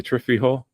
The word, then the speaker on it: chifrijo: I'm not even going to try to pronounce that. The chifri, the chifri, the chifrijo, chifrijo.